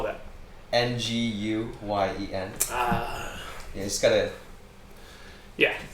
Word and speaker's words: Nguyen: uh nguyen say it again how do you spell that n-g-u-y-e-n ah you just gotta yeah yeah slide through